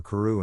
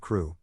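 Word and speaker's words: Crewe: difference in the name madam pascal pronounced it as if it were karoo instead of crew but that might be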